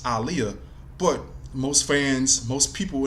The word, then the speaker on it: Aaliyah: to the singer Aliyah her name is pronounced Aliyah she used to go on different interviews saying her name saying Arabic meaning saying how it was pronounced Aliyah but most fans most